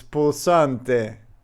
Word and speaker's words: pulsante: Oh no, it's pulsante.